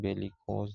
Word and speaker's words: bellicose: तो ये बेलिकोज, जिसका प्रोनाउंसिएशन बेलिकोज है, को हमने समझा, जो बेली रूट से आया है।